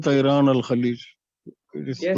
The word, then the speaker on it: طيران الخليج: Gulf Air is called Tairan al Khalij. It is Yes.